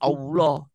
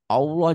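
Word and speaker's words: الله: Oh ini bunyi A-nya jadi oh Mhm. Rasulullah, Allah jangan Allah. Kan tulisannya Allah Bu.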